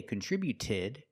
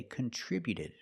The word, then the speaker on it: contributed: We see with contributed, the t before the ed is between vowels, so it's a fast d. We don't say contributed. We say contributed.